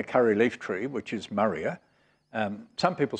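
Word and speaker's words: Murraya: leaf tree which is maria some people say moraya but i'm told that if since it's named after mr murray it should be pronounced maria maria konnigei and it grows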